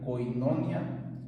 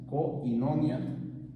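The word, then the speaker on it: κοινωνία: w V I a que se pronunciaría koinonia koinonia que se utiliza en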